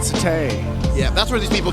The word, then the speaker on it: satay: It's like Satai, but Satay.